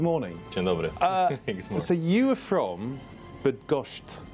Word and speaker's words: Bydgoszcz: So you are from Bydgoszcz. Bydgoszcz, yes. Okay, not bad pronunciation there, in Poland, but you're now in Bournemouth.